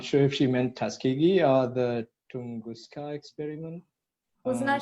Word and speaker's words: Tuskegee: Not sure if I'm pronouncing it right. Is it Tuskegee or Tunguska? Yeah, the first one you said, Tuskegee.